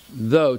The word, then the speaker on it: though: So, though, Though, though, so you're pronouncing OU-O.